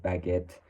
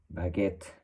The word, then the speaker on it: baguette: Yes, both of them are pronounced baguette. In English, may stress a little bit more of this, the second syllable, like baguette, and in French sometimes you will lose some of those consonants too.